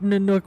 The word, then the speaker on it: Nanook: It's N-A-N-O-O-K is how it's spelled for the T-Y. It's Nanook. Yeah. So that's Nanook.